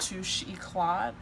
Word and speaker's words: Touche Eclat: one of the lighter shades and my YSL Touche Eclat, that's how you say it.